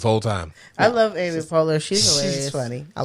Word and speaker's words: Poehler: How is it pronounced? Amy Poehler. Amy Poehler. Yeah. Okay. Why have I been saying Folier?